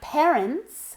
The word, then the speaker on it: parents: My parents have 3 computers. My parents. Esta A se pronuncia como una E. Parents.